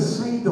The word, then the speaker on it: Seder: When the Jewish folk celebrate Passover and they sit down to have their meal, they call it the Seder, I think it is. Seder. S-E-D-E-R, I know it's spelled like that, S-E-D-E-R, which simply means order.